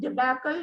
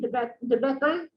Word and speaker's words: debacle: And then someone mispronounced debacle, it should be debacle.